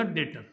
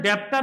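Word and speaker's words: debtor: गया ये हो गया डेटर डेटर बोलते हैं डेप्टर नहीं बोलते हैं इसको क्या बोलते हैं डेटर बी साइलेंट है इसमें डेटर ठीक है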